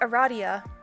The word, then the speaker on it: Aradia: It is pronounced Aradia. That makes sense. Although you've just met, you cannot fathom her name being pronounced any other way. Your new potential friend Aradia is looking a little...